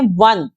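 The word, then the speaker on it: one: है मैंने इसको जबक ये स्टार्ट हो रहा है ओ से पर इसको जब हम बोल रहे हैं तो हम इसको बोलते हैं वन व और व किसकी साउंड होती है डब्लू की यानी यह भी एक कंसोनेंट साउंड है इसलिए इससे पहले भी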